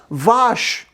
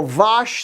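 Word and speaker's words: vache: french what's the word for cow huh yes vosh we're gonna go vosh the cow in norwegian what's the words for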